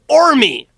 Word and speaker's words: Qormi: He says, "Oh, Ormi! Yes, we can go to Ormi." Or Starts with a silent Q.